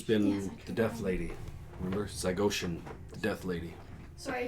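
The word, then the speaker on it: Zygoshin: the deaf lady remember zygotian the death lady sorry how do I spell that z-y-g-o-s-h-i-n looks like ocean death lady so Killian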